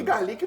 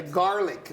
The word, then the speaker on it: garlic: Uma que garlique não não é pronúncia correta, é garlic, né?